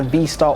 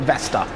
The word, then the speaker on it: Vestar: taking a look at the Vestar or the Vestar Black Hawk, depending on how you want to pronounce the name. I'm going to call it Vestar.